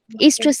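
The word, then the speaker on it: oestrus: ईस्ट्रस cycle. मैंने बोलता ओ silent है ना, ईस्ट्रस साइकिल।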